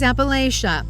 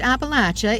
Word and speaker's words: Appalachia: This is Appalachia, or pronounced Appalachia if your kin live here, known for its natural beauty, its hollers, and its struggles.